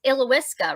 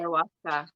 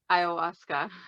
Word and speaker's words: Ayahuasca: Let's go there, and then we'll go into it's Ilowiska, right? Is that how you say it? Ayahuasca. Say it again. Ayahuasca.